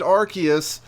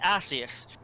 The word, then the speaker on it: Arceus: the uh early presentations for pla um they pronounced it Arceus which is stupid they also pronounce aqueous in